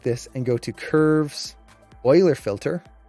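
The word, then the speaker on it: Euler: So if I now select this and go to curves oiler filter right there, some people pronounce it uler, but it's uh pronounced oiler based off of mathematician.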